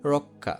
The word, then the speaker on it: রক্ষা: যেমন আমি বললাম রক্ষা, এখানে যেহেতু কিয় আছে, আর শুরুতে কি আছে? স্বর অ যদি থাকে, তাহলে এটা হবে ওকারের মতো। আর কিয়টাকে বাংও রক্ষা।